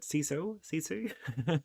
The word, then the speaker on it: sisu: I believe that's how you pronounce it. Sisu. It's a Finnish word.